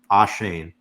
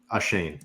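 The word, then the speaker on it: Achane: rushing touchdowns and and trying to pronounce his name correctly because I think it's Devin ashane four touchdowns on the year averaging 11 yards ashane got it thank you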